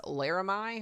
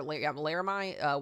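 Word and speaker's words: Laramie: the east of uh I believe this is pronounced as Larami or Larami Wyoming here. Larame Wyoming uh just to the northwest of Cheyenne here.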